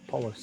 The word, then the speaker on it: Paulus: Paulus, that's how you say it.